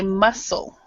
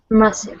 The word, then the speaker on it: muscle: an SC together the the C is silent so we would say muscle muscle okay yeah so Natalie